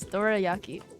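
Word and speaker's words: dorayaki: say this in English Dora Yaki oh it's Japanese and then in English it's just the same as Japanese Dora Yaki call me S jumpy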